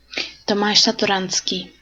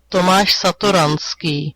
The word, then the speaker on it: Tomáš Satoranský: 예, 토마시라고 읽는 게 맞다라고 제가 말씀을 드렸었죠.